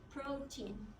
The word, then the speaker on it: protein: so most of you how would you say this word if I don't teach it to you you would be three syllables but it is not it's just two protein protein protein protein so